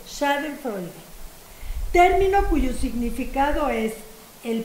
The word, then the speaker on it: Schadenfreude: Schadenfreude. ¿Sí? ¿Freude o Freud? Freude. Schadenfreude.